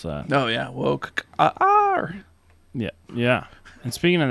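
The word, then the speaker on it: Wokar: How would you pronounce that? Oh, yeah. Woke R.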